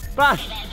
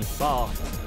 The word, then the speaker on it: Bath: How do you pronounce Bath if you're Northern? Bash.